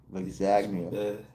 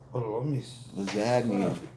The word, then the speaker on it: lasagna: Lexagnia. Yes. on my wall. You know look how it's spelled lasagna. What? Even though I know the G silence.